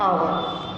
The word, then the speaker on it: hour: N unkind remark, an आवर. क्योंकि यहाँ पर क्या है? ये स्वर है. आई क्या है? वॉवेल है. ई क्या है? वॉवेल है. यू क्या है? वॉवेल है. और एच तो साइलेंट आता.